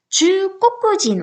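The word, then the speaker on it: 中国人: 원래 우리나라 국자는 강꼬꾸 하면서 꼬꾸였잖아요. 그런데 주꼬꾸진. 그럼 발음이 너무 세거든요. 그래서 의도적으로 여기에는 타금을 붙여준 거예요. 그래서 주꼬꾸진이 아니라 주꼬꾸진. 주꼬꾸진. 이 정도로 발음해 주시면 되고요. 고에 타금이 있다는 거 꼭 기억해 주셔야겠어요.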